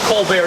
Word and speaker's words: Colbert: Well, he wasn't known locally as Colbert, he was a Colbert. But he is from a French Huguenot family, so Colbert is the proper pronunciation, but they were never known as the Colberts historically.